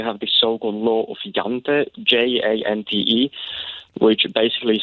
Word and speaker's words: Jante: How do you pronounce it? Law of Jante.